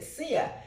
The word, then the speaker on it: Sia: it just came out he said seea I said seea how do you spell it he said s i a I said wow that